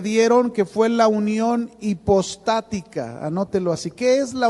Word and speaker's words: hipostática: que fue la unión hipostática. Anótelo así. ¿Qué es la unión hipostática? ¿Qué es la unión hipostática? Con H. Hipostática, acento en la primera, hipostática.